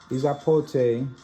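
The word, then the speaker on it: epazote: Izapote, pronounced Izapote.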